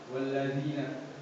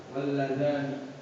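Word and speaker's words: وَالَّذَانِ: Jadi saudara Kholis membacanya walladzina. Sedangkan yang terdapat dalam Al-Quran walladzani.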